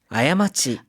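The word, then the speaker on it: 過ち: 실수 잘못이라고 할 때는 아야마치 아야마치라고 읽습니다.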